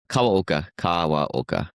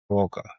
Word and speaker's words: Kawaoka: Kawaoka. Kawaoka.